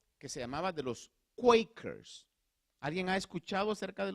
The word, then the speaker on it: Quaker: Pero eso en una pronunciación un poquito más genuina es Quaker.